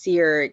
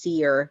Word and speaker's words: Sear: Cole's last name which a lot of people thought was pronounced sear until it's pronounced is actually pronounced Seer like to see something it's pronounced like that but it's spelled Seer like to burn which I found a